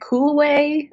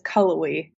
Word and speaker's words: Cullowhee: try to pronounce that we always have people either calling it cool way or some variation of that but it's Cullowhee see I would have